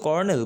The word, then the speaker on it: colonel: তো আমরা উচ্চারণ কর্নেল করি, কিন্তু বানানটা আসলে যদি ওইভাবে ভাবি তাহলে হবে কলোনেল, লাইক COLONEL।